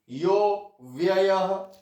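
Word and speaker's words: योऽव्ययः: आगे ये एस जो है ये है साइलेंट अ, साइलेंट अ अव्ययः, यह प्लस अव्ययः ऐसे है। ये साइलेंट अ का अवग्रह, इसको अवग्रह चिन्ह बोलते हैं। ये साइलेंट अ होता है, हमने इसको बोलते समय अ का उच्चारण नहीं करना। यो व्ययः ऐसे।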